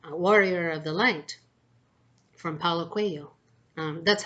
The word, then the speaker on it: Paulo Coelho: of the book, Warrior of the Light, from Paulo Coelho. That's how you pronounce his name, by the way.